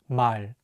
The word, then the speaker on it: 말: The 리을 consonant is at the end of the word, so it will be pronounced as L. Let's say it together, 말.